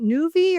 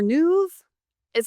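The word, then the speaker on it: Nuvve: I'm not sure how to pronounce this. Is it Nuvi or Nuv? It's Nuvi.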